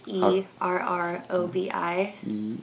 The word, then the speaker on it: Errobi: Their band was called Errobi, which is ERROBI. ERROBI? Yeah. And that's pronounced how?